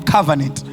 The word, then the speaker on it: covenant: Covenant or covenant. How do you pronounce it? Huh? But there's all. It's covenant, not covenant. Covenant chambers.